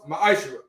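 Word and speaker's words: מעשר: it means tense in hebrew and is pronounced maisha 10 of every penny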